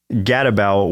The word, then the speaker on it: Gadabout: And yeah, it is pronounced gatabout, which I had to look up what that even meant.